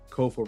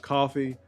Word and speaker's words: Kofa: Kofa rhymes with sofa, not coffee, not, not Kofi, or any variation thereof.